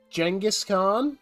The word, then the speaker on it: Genghis Khan: with it uh we're gonna continue on our Genghis Khan I said it right that time campaign on